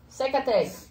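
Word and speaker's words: sécate: My second to last syllable, one, two, should be on the E. So my command for dry yourself off is secate.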